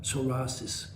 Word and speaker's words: psoriasis: types of psorasis first of all let's spell it the name properly psorasis PSO I I CS I right soris now soris comes from the word SOA which